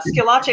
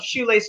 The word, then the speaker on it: Schillace: by the way uh skillache is my last name and i've been called shoelace for years so i'm very sorry um